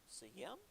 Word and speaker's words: Sejm: No, it wouldn't be a J. I've been missing this the entire time. It's in Poland, so the J would be a Y, Sejm.